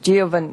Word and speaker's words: Giovanni: i mispronounced your name giovanni not really i I just slowly but you said it perfectly I'm supposed to say it quickly so okay you'll be